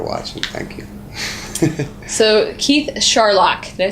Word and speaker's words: Scharlach: But my last name, it's Scharlach, like Sherlock Holmes. And it's an awesome last name from Mom and Dad that are watching. Thank you. So, Keith Scharlach, did I say it right?